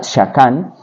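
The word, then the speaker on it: שָׁכַן: hebreo esa palabra habitar Es un término que se pronuncia shakan que significa habitar o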